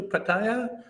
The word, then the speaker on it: Pattaya: It's Pattaya. No, Pattaya. Pattaya. No, there's no I.